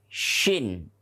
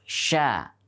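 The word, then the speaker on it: شين: Maka ini adalah huruf shin. Bukan huruf sya. Bukan huruf sya, tapi huruf shin.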